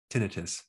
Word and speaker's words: tinnitus: Today, we're going to show you a technique on how to stop tinnitus, or you can pronounce it tinnitus.